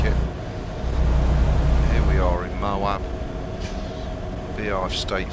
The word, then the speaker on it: Moab: Here we are in Moab.